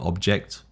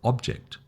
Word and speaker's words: object: So you see the emphasis is the noun, the first syllable, the verb is the second syllable.